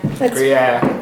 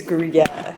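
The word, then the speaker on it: Gruyère: Gruyere. Beautiful. Oh, thanks, guys. I think it's Gruyere.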